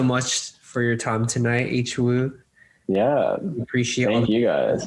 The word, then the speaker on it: H Woo: And I know there's a lot of people that are like, how do you say your name? Is it Woo? No, it's AYch-wOO.